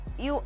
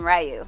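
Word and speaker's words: Ryu: right is that how you pronounce it dude forever used to pronounce his name rayu and I think I found out later it's actually you but whatever this guy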